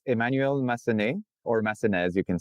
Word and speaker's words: Massenez: So it's French, so it's Emmanuel Massenez, or Massenez, you can say as well.